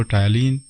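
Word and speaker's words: ptyalin: पिछली वीडियो में मैंने टायलीन को टायलीन ही प्रोनाउंस किया था। एक ने कमेंट में लिखा था कि सर जी ये पी टायलीन प्रोनाउंस होता है, हालांकि इसमें पी साइलेंट है।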